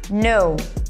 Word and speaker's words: know: the firstlife atau silent untuk huruf k jadi ketika kita ketemu dengan huruf k dan di depannya ada huruf n nah ini huruf k-nya enggak perlu dibaca for example now atau bahasa Inggrisnya aku tahu Nah itu kan tulisannya know gitu ya gengs know ini kayaknya Nggak perlu dibaca jadi kita bilangnya bukan I know but I know contoh lainnya adalah Knowledge